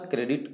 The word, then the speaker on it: Corps: कोर का spelling लिखते हैं CORPS, बट पढ़ते हैं कोर, इसलिए ध्यान रहे सी वाले से, बाकी सभी गलत हो।